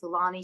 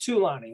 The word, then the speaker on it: Thulani: It's actually pronounced Tulani, like you're going to count Tulani. Lonnies, like one Lonnie, two Lonnie, three Lonnie, four, five Lonnie, six Lonnie, seven Lonnie more.